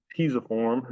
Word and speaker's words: pisiform: the lunate, the triquetrum, the pisiform is how I pronounce it, but I've heard it other ways.